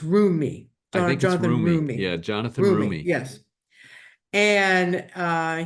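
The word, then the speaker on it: Roumie: the name of Jonathan Romy who I think no actually I think I'm spelling I'm saying his name wrong it's uh it's room me yeah Jonathan yes and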